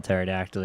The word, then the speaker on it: pterodactyl: use the bathroom because their P is silent because whenever you spell pterodactyl, you know, the P is is silent and it's a word play joke.